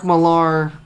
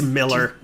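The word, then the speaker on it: Millar: Sun yes um Mark malar uh it's Miller it's just it doesn't matter what he says his his ancestors were Millers and he decided to change it cuz he didn't want to be one it's spelled with an a I don't care okay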